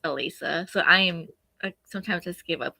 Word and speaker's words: Alissa: I'm Because It's how probably it's spelled, everybody says Alyssa, but it's Alisa.